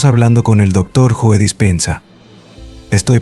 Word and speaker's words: Dispenza: doctor K estamos hablando con el doctor Joe dispensa estoy pronunciando correctamente tu nombre lo estás está bien